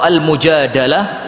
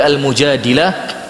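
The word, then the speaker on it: المجادلة: Oleh sebab itu dalam suratul Mujadilah atau Al-Mujadalah, ini cara bacanya sesuka antum, boleh Al-Mujadilah, boleh Al-Mujadalah.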